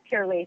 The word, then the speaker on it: Pur-lisse: Did I pronounce that correctly? Yeah. Um yes, Pur-lisse.